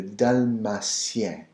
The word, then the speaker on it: Dalmatien: Similar spelling, similar pronunciation, little variation from English to French. Dalmatian is spelled with the A-N. In French, it's spelled with the E-N. Dalmatian becomes le Dalmatien.